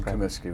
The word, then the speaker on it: Comiskey: Let's start with the first one, which is your name and if you can spell it in the title. So, we get it for the subscription. Yeah, it's Kamiski, which is C O M I S K Y.